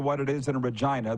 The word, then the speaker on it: Regina: it is in a Regina the city that rhymes with fun enjoying your show thank